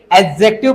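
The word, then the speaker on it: adjective: एडजेक्टिव पढ़ा जाता है। इसमें है ना आप ध्यान से देखोगे ना तो डी इसमें साइलेंट होता है।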